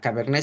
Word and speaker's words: Cabernet: En el caso de Cabernet, no se pronuncia Cabernet, es Cabernet, ¿ok?